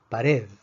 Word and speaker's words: pared: Pared, pared. Pared es una palabra aguda. La fuerza está en la última sílaba.